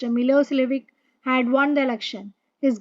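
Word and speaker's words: Milošević: were in majority a narrow-minded Serb nationalist milosevic pronounced Milos lvic had won the election his government was very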